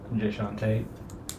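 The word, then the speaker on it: Jae'Sean Tate: Jay Sean Tate. Jay Sean Tate. Yeah. Oh, I guess I didn't spell that right.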